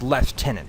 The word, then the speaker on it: lieutenant: But it's just lieutenant that bothers me. There is no F in that word.